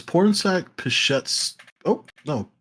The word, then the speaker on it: Pichetshote: I believe it's Pornsak Pichets. Oh, no, Pichetshote?